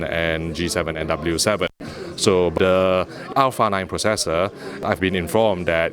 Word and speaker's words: Alpha 9: as the Alpha 9 previously I've referred to it as the a9 but LG has come back to me and say that alpha is the correct way to actually pronounce it so maybe you would like to pronounce it as such so the Alpha